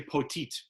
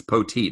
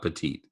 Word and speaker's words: Poteet: have to stop yourself i like to say poteet it's poteet not petite scott we're gonna have